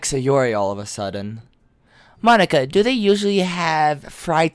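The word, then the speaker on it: Monika: how you say my name at all it's Monica know also that jokes makes no sense in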